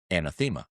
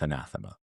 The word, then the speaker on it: anathema: context of the poem but I pronounced it anathema in front of this Oxford professor of poetry and he just put his hand out and he goes It's anathema.